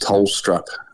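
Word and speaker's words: Tholstrup: selections of Caleb and and Colton which is pronounced tolstrup um as a Danish background yet good to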